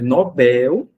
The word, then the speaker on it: Nobel: O item um tá afirmando que a pronúncia correta é Nobel. Por isso a palavra não deve ser acentuada, já que a sílaba tônica é a última oxítona e terminada em L.